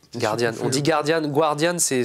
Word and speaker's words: Guardian: même microcosme press anglosaxon en presse anglo-saxon le Guardian Guardian oui mais oui oui oui Guardian moins mais mais le Guardian oui oui c'est c'est bien c'est pas Guardian Guardian on dit Guardian Guardian c'est c'est faux de